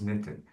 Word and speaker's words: knitted: The K is silent. Okay? Silent. And if you want to use it in the past, it is regular. You have to say knitted. Netted. Yeah, it's not knitted, it is knitted.